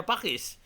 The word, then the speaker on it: Paques: kalau buat saya juga baru tahu Pakis dibacanya pake Pak wes dibacanya Pakis Jangan sampai salah ya teman-teman Dan ini ternyata